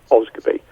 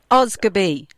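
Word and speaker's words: Osgodby: um i actually live in a village called oz goodbye it's actually spelled o s g o d b y but it's pronounced oscar b do you think you would be able to pronounce that joke oscar b there you go so so i started to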